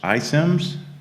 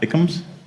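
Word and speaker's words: iCIMS: the middle it's pronounced isims not ikems uh actually because there was a software system called sims so this was about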